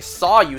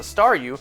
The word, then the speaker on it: Staryu: me was just a Staryu, I could never pronounce its name right. I always ended up sounding like saw you.